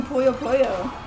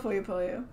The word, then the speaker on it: Puyo Puyo: We can do Puyo Puyo.